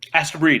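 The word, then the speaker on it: Astebreed: Asta Breed, right? Astro Breed, yeah.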